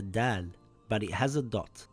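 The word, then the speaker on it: دال: This letter is called Dal, and it is a light letter. Dal makes a similar sound in English to the letter D in the word dad or the word dark.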